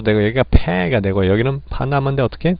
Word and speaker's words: Panama: 그런 발음을 적용해봤을 때 파나마인데 액센트가 이름절에 간단 말이죠.